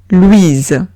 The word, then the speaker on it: Louise: Siguiente palabra es Louise. Louise. Veo una O-U-I. La pronuncio oui. La S entre dos vocales se pronuncia Z. Y digo Louise. Última palabra, cheveux.